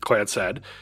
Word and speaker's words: Clancy: The clan said, pronounced clan said, Trust is a highly